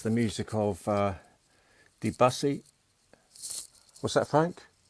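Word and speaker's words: Debussy: snowflakes are dancing it's the music of uh debsy what's that Frank it's it's pronounced deusi oh okay so it's the music of deusi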